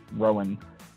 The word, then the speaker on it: Rohan: H like Rohan but it's pronounced Rowan like row in a boat all right well thank